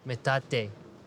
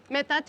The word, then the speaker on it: metate: And this is a classic metat mata. Is that how you say it? Metata. Mateino. Metate. Metate.